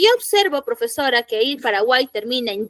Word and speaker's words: Paraguay: como les decía no cuando yo pronuncio la palabra Paraguay esa eso que yo observo como consonante en realidad está sonando en esa palabra como vocal para Guay está bien no va a pasar lo mismo cuando yo utilice por ejemplo la palabra es como si esto en en sonido estuviese como para Guay Así suena así en la pronunciación pero no va a